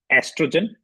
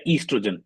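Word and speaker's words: estrogen: उस हॉर्न उस हॉर्मोन को एस्ट्रोजन या ईस्ट्रोजन दोनों एक ही प्रोनाउंसिएशन है। एक ही वर्ड को दो तरीके से प्रोनाउंस कर सकते हैं।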